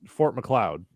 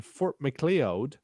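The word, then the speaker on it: Fort Macleod: was uh filmed in and nobody has ever pronounced it right so the full name is Fort McLeod right everyone just calls it Fort Mac uh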